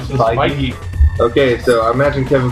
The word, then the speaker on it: Feige: I'm gonna call him Feige. That's I never knew how to pronounce it. Well, according to the Iron Man 2 screenwriter in an interview I just saw, Feige.